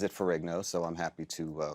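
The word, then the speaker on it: Ferrigno: Of course, his name should be pronounced Finho uh the Italian way. He is of Italian descent. Uh but he pronounces it furo, so I'm happy to uh call it Furo. an Americanized pronunciation.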